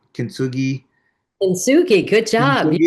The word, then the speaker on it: Kintsugi: Kintsugi, good job.